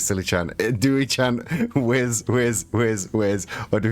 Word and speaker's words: WIS: Well, that is what it is, though. WIS is whiz.